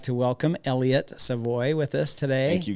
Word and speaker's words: Savoy: How would you like us to pronounce it? Savoy Savoy. would be sufficient. I do Savoy would be appreciate We would that. like you to say Savoy. That's how it's pronounced.